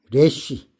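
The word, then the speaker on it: ריש: 레쉬. 예. 머리 자꾸 이렇게 흐려지네. 레쉬. 레쉬라고 읽습니다.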